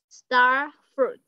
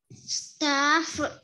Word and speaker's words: starfruit: Cho nên không đọc là stra, mà đọc là star. Star. Star. Đúng rồi, con nhớ lên. Star. Chữ tờ nha. Star. Star. Starfruit. Starfruit.